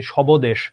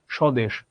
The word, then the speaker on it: স্বদেশ: কোনোটাতেই হচ্ছে তোমার উচ্চারণ নাই, ব এর কোনো উচ্চারণ নাই। তুমি স্বদেশ, ধবনী, জবালানি এইভাবে তো আমরা বলি না। স্বদেশ, ধ্বনি, জ্বালানি।